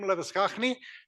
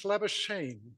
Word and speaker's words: Labuschagne: Our next speaker is Leviskachny, but she tells me she's Labuschagne.